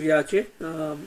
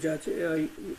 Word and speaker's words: जाचे: Mana Abhasa Abhasara Sadajaje Actually, it is Yache. In Bengali, it is Jache. The pronunciation is Yache.